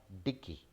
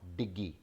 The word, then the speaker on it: dickey: So both are डिक्की, नॉट डिग्गी।